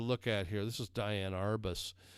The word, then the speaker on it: Diane Arbus: The last one I want you to look at here, this is Diane Arbus. Some people pronounce it Deanne Arbus.